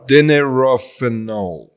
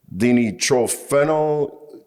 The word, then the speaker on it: dinitrophenol: Can you read it? Is dinitrophenol. Dinitrophenol. That's it.